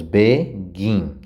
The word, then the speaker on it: begin: Nós temos begin, o gin é mais forte, então repete.